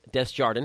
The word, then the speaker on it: Desjardin: his name is des Jardin it's pronounced how it looks if you're gonna look